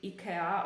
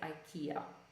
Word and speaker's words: IKEA: it's a Swedish company I don't know how they pronounce it in Sweden I would say probably Ikea or something something similar but when we pronounce it in English we don't say it we say Ikea okay and the last